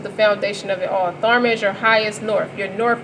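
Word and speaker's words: Tharma: in your highest self so Therma t-h-a-r-m-a rhymes with Karma you good karma for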